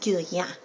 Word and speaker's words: Guerlain: I think it's actually pronounced Guerlain or Guerlain, because L-A-I-N, the N is not pronounced. So it's like Guerlain.